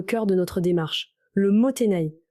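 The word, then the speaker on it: もったいない: Commençons par le cœur de notre démarche, le motenai. Ce mot japonais, prononcé moteinai, est bien plus qu'une simple injonction à ne pas gaspiller.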